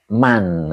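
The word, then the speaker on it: مَن: memilih dunia ya berarti bacanya husron man bukan min berarti ya. Jadi kerugian bagi orang yang memilih dunia alal akhirati. Jadi tidak min ya man karena ini depannya adalah fi'il ya.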